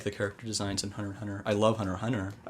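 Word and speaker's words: Hunter × Hunter: what are you talking Hunter Hunter those have two repeating words go ahead well is I thought you don't pronounce the X kill the hunter no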